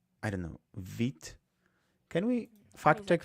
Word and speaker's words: Vite: Hey, Łukasz, live is V, and this is vite. There's a T.